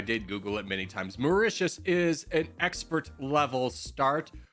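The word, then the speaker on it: Mauritius: you it's you I've done morania oh okay macious and that is the correct pronunciation I did Google it many times macius is an expert level start we are a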